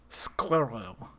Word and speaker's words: squirrel: Because it's just, I mean, you know, obviously, American accent, you just say squirrel. But it's a very weird syllable. It's like one and a quarter syllables.